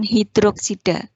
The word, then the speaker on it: hidroksida: disini dibacanya adalah ion hidroksida Jadi bukan oksigen hidrogen enggak soha Bacanya adalah hidroksida baoh2 kali barium hidroksida